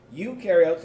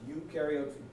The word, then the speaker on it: eukaryotes: To help you remember, what I usually tell people is eu rhymes with do, because eukaryotes do have a nucleus.